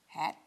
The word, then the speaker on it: Haidt: Our pastor did a whole sermon series on the book, The Anxious Generation by Jonathan, mispronouncing his name, Haidt, H-A-I-D-T.